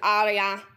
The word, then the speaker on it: ARIA: Snoochie, like we mentioned at the start of the show, you're also for a massive radio award, an ARIA, I think it's pronounced. Yes, an ARIA.